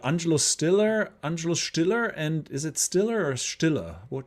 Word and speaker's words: Stiller: Stiller, and is it Stiller or Stiller? How should we pronounce him? I mean, in German, it's Stiller, right? So Stiller. But here in the United States, it'd be Jerry Stiller.